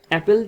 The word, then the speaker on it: আপেল: যখন আমরা এটা উচ্চারণ করি বা ধনের সাহায্যে বলি তখন এটা হয় কি? অপেল। আর যখন আমরা লিখতে যাই তখন বলি কি? আপেল।